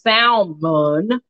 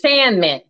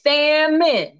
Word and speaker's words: salmon: The L is silent, honey. It's salmon, salmon, salmon, salmon, salmon,